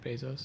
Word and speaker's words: Bezos: Yeah, Jeff Bezos.